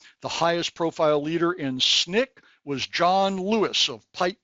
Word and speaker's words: SNCC: Another organization, the Student Nonviolent Coordinating Committee, SNCC, pronounced SNCC, was founded by young people in 1960 and was responsible for some lunch counter sit-ins and the Freedom Rides of 1961.